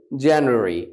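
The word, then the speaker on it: January: correct প্রসিয়েশন অফমান্থস started আমরা এটাকে আগে জানুয়ারি বলতাম রাইট কারেক্টলি প্রনাউন্স জানুয়ারি জানুয়ারিটাকে আপনি একটু বলবেন রাইট জেনারি এর আগে আমরা রুল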